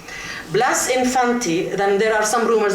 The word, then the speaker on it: Blas Infante: by the name of Blas Infante. The Andalusians don't pronounce the letter S, so they go Blas Infante. Blas Infante, then there are some rumors that he did eventually become a Muslim before he died.